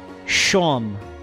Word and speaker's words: Seam: up his name is seam oh cause he's stitched together like he's all st he's like a stuffed animals stitches but it's pronounced like sean so it's shawn i hate that oh